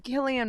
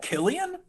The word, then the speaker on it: Cillian: that Irish accent on Cillian Murphy's internet? No. Is it Killian? Yeah. Oh my Yeah, god, I thought it hard was C. Cillian. Yeah, Cillian. Hard C.